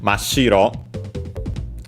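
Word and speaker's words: 真っ白: Mashiro, notice also doubling of the consonants. Because of this prefix, even though on its own would be ma, that often doubles the following consonant. We had a small su in between. So we get mashiro, like in this case also accented on the shi, pure white, and the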